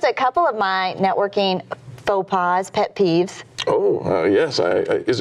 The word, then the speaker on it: faux pas: with you just a couple of my networking faux pas, pet peeves? Oh, yes. Is it faux pas or fox pass? It is faux pas.